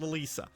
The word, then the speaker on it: Lolisa: No longer can I get comments of people saying, hey, you pronounce her wrong. She's called Lori, not Lolisa. No, she's now officially called Lolisa.